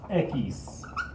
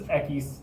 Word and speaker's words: equis: get in front of it this is called ekis which is funny that it doesn't actually use the x in the word for the x but this is equis this is hota and this is pronounced it's